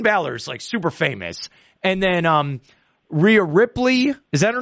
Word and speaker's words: Rhea Ripley: And then Rhea Ripley, is that her name? Yeah. Rhea Ripley.